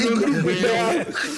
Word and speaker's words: Touandrou Béao: Et puis tu prononces bien. Oui, Touandrou Béao.